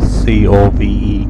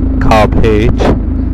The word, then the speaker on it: Cobh: Cove is spelled C-O-P-H, but pronounced as C-O-V-E, Cove. Tourists often ask for directions to Cove as, can you direct me to Cobh?